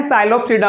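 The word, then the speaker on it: Psilopsida: सो सबसे पहले हम पढ़ते हैं साइलोप्सिडा वाली क्लासेस। कौन सी है? साइलोप्सिडा। पीसाइलेंट होता है इसमें।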